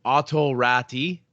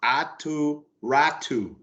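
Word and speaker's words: Aatu Räty: sure everybody knew exactly it's written righty but they wanted he wants to pronounce ATU ratu aturatu oh let's see my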